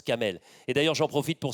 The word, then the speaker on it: Camel: C'est Kamal, mais ça se prononce Kamel.